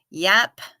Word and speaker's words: Yap: the dolphins right on Yap pronounced like cap is part of the